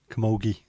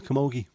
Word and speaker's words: camogie: The G is pronounced like Lee, but with a G. Gee. Right, I know what. Yeah. Camogie.